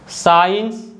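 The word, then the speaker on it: science: after the letter yes अगर letter सी सस के बाद आता है तो सी को हम नहीं बोल बोते जैसे कि muscle Saint scenario साइंस discipline तो जैसा मैंने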